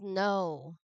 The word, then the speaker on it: know: And then last one is no. So this one, silent letter K.